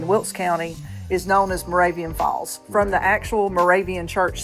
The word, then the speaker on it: Moravian Falls: 1845 hose Road and it's actually located in Moravian Falls North Carolina did I pronounce that right you did you did so